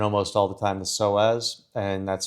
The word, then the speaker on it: psoas: So often the obliques are tied up in with it, and almost all the time the psoas, and that's spelled PSOAS, you can look it up, is usually a component.